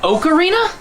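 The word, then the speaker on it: Ocarina: one of the greatest games ever made it's pronounced oakarina I thought it was okra of time that explains why you didn't like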